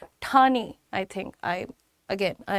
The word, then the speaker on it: ठाणे: नॉट ठाणे इट्स ठाणे ठाणे।